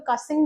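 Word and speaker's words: Cushing: तो ये जो कोशिंग सिंड्रोम्स है, बहुत लोग कोशिंग बोलते हैं, बहुत लोग कासिंग बोलते हैं, तो दैट्स टोटली अपॉन यू कि आप क्या प्रोनाउंस करना चाहते हो। मैं कोशिंग सिंड्रोम्स बोलती हूँ।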